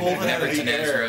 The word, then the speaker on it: Nevertanezra: Nevertanezra is just a word.